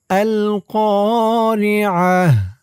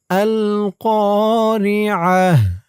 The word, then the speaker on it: القارعة: আল কারিআহ। আল কা আল কা আমি যেখানে যেমন উচ্চারণ করি, যেমন টান দেই, আপনারাও আমার সাথে বলে তেমন উচ্চারণ করবেন, তেমন টান দেবেন।